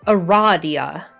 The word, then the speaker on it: Aradia: loud because she immediately corrects you it is pronounced eradia that makes sense although you've just met you